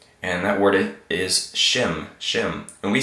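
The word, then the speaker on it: שֵׁם: is a word and that word it is shim shim and we say that so mr.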